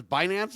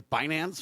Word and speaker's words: Binance: I guess it's Binance. Is that how you say it? B I N C E. It's not bite dance. It's It's not like the Tik Tok thing. It's Binance or whatever.